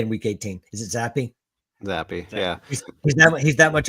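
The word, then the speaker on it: Zappe: Is it Zappy?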